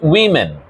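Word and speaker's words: women: এবার প্লটা এটার উচ্চারণ উম্যান উইম্যান ঠিক আছে সিঙ্গুলারটার উচ্চারণ হচ্ছে ওম্যান প্লুরালটার উচ্চারণ হচ্ছে উম্যান তাহলে তুমি যদি ইংরেজিতে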